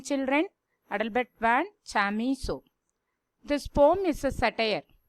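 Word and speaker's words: Adelbert von Chamisso: How do you pronounce his name, children? Adalbert van Chamisso.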